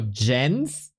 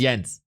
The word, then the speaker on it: Jens: Gap we can discuss how it's pronounced yens or or Jens yens is a German name I'm a German it's yens there's no discussion yens no discussion at all when we're not